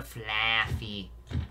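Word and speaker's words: Flaaffy: Murray evolved into Flaffy. Which rhymes with Taffy.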